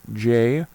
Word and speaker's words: JSON: You have to also have JSON which is the JavaScript open notation pronounced JSON.